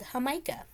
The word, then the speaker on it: jamaica: and I like a drink called how Micah and it's it's spelled like Jamaica and it looks like Jamaica and in you know